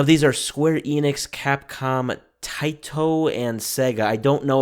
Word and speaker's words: Taito: Now, these are Square Enix, Capcom, Taito, and Sega. I don't know about that third one, if I'm pronouncing that correctly. I have not heard of Taito. Okay, Taito.